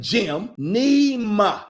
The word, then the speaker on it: Gymnema: Geneva, G-Y, Neva, Gym, like G-Y-M, Gym, Nema, G-Y-M-N-E-M-A, Gymnema, okay?